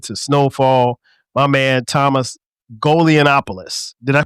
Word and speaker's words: Golianopoulos: My man Thomas Golianopoulos. Did I pronounce that right?